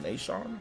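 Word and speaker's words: Naeshaun: But yeah, N-A-E, that'd be like Nay, and then S-H-A-U-N, Sean, so just Nashawn, you know. But I can see how somebody might say Nashawn or Nashawn, but it's just no, Nashawn.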